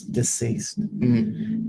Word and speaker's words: deceased: can you hear that I just go like ah disease this East I have to turn my vocal cords off to pronounce deceased deceased diseased deceased that